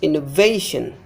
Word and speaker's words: innovation: Innovation. Before this syllable is stressed. Innovation, innovation. Examination.